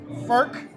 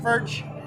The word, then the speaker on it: Furch: so we're going to do this it is pronounced FK it is is not pronounced fch and let's let's get it straight right yeah